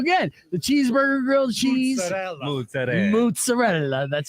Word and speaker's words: mozzarella: And in fact, actually, if you're extra Italian, if you don't say the A, it's mozzarella.